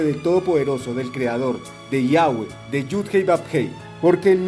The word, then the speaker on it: Yahweh: Y ahí es donde entra el nombre del Todopoderoso, del Creador, de Yahweh, de Yud-Hei Bab-Hei.